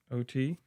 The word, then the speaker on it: Otey: O-T? It's pronounced O-T, by the way.